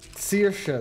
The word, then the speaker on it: Saoirse: Saoirse, that's the pronunciation.